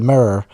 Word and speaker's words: mirror: comes out of the mirror uh the the smoking mirror and basically in Ireland we pronounce mirror as one syllable not to um which I'm constantly told is the incorrect way to pronounce mirror.